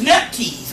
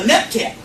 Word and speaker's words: Nephthys: This is Nephthys, a Neptet. Neverhet, Neptet. There's several pronunciations. But the Greek name, which is printed the most, is Nephthys.